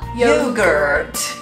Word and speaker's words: yogurt: No, there's more R. Yogurt.